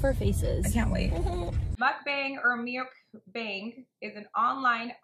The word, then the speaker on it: mukbang: It comes from mukja for eating and bang song for broadcast. Eating broadcast, mukbang. We got it, you guys. The pronunciation is a bit tricky to get right, but we got it.